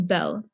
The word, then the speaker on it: bel: you need to use Bell for example to say handsome man you would say Bell om where bell is spelled b-e-l now pay attention to